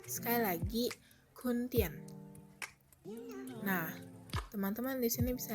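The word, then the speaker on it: 坤甸: Jadi Pontianak dalam bahasa Mandarin adalah Kuntien. Aku ulangi sekali lagi, Kuntien. Sekali lagi, Kuntien.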